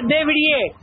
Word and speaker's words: Debrie: Se pronuncia Debrie. Debrie.